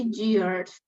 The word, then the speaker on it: years: but there is no just start with the open mouth start with an e sound years really it's just